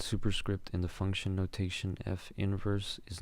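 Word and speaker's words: f⁻¹: So again, the way you pronounce this is f inverse, not f to the -1.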